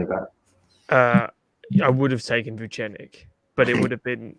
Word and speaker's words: Vucenic: Vucenic.